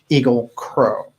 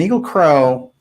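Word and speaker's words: Egil Krogh: his name yeah okay there might be different pronunciation it's EG IL k r OG h but people crow he's a very unusual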